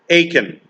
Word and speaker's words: Achan: And here's the best way to pronounce it so you'll never forget it. Achan.